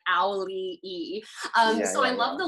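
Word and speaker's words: Auli'i: the rock being like this is how you pronounce my name like owly e um so i love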